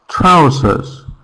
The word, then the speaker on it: trousers: No, trousers. So the second syllable is the same, but the first is different, and that's why we get confused.